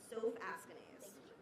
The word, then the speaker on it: Soph Askanase: And can you pronounce it? Soph Askanase.